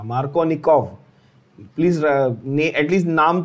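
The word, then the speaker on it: Markovnikov: ठीक है, originally his name was supposed to be Kov V, but हम लोग उसको F से प्रोनाउंस कर देते हैं, that is fine, F से लिख देते हैं, प्रोनाउंसिएशन तो हमेशा V ही रहेगा।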